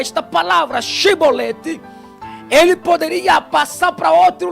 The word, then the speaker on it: Chibolete: Aí ele falava Sibolete. Quando ele falava Sibolete, era morto. Por quê? Porque a pronúncia Sibolete identificava a pessoa como sendo da tribo de Efraim. Se ele pronunciasse Shibolete, significava dizer que ele não pertencia àquela tribo de Efraim.